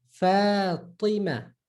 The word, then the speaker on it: Fatima: Fatima, Fatima. So fa, ti. Remember, curved tongue, same like T, but curve your tongue.